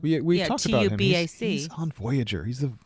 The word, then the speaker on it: Tubac: Tubac. He's on Voyager. He's the Vulcan on Voyager. No, but it's actually a place, but that's pronounced with like a V instead of a B.